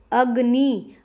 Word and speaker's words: अग्नि: इन शब्दों का उच्चारण कीजिए। इंद्र, यहाँ पे देखो इंद्र, अग्नि, तो यहाँ पे क्या है, ई और अ पर ज़्यादा जोर दिया जाता है।